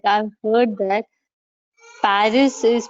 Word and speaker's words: Paris: there so that's right paris we call it paris but the local people they say pari right it's not pagi right it's pari is the verb here that